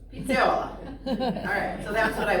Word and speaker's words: pizzaiola: Pizzaiola. Oh, okay. Just say it fast. Pizzaiola.